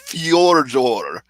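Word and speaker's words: Fedor: you're supposed to say fade or amelianenko because you'll get people saying it's fjorjor and i i've never heard any announcer pronounce it that way and i've never heard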